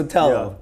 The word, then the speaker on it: Sotelo: They never pronounce it correctly. Yeah. Well, that's because they're racist. Yeah, exactly. clearly. It's pretty easy, Sotelo.